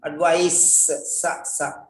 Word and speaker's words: advice: Advise, ADVISE, advice, C. Don't pronounce the same way. That is sa, this is za.